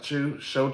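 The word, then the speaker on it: Chew: Now, Mr. Show or however you say his name, Chu, I believe is how you say it.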